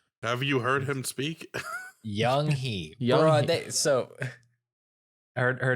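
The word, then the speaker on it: Yung Hee: Young Chi. I said it wrong. Young Lee, right? Fuck, did you even look at the wiki? This is gonna be progressively worse. Young-hee. Young Hee. There we go.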